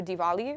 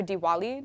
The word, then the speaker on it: Diwali: the opportunity to cover diali or Diwali depending on how you say it but it's a